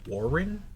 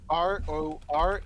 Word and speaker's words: Roran: Is it Warren? Roran.